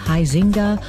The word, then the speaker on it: Huizenga: I had a managing editor at the Sentinel who always said Huizenga, and I would always say you're putting the wrong emphasis on the incorrect syllable. It's Huizenga.